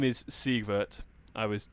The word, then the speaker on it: Siegwart: So essentially, what so his name is Siegwart.